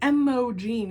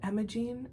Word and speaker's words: Imogen: Because Imogen, I wouldn't pronounce it like Imogen. You don't need to like really enunciate that O sound. But Imogen, oh, it's so beautiful.